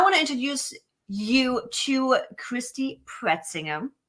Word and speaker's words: Christy Pretzinger: And today I want to introduce you to Christy Pretzinger. I don't even know if you pronounce that way in English. That's how we pronounce it in German. It's right.